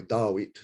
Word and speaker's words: Dawit: I was 4 years old, and my father, that's his handwriting, he put down Mohawks by Dawit. And Dawit is the Mohawk way of spelling and pronouncing the name David.